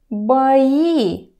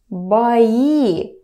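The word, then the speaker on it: бои: it just goes to by E by E pay attention to the pronunciation a vowel reduction happens here it was boy clear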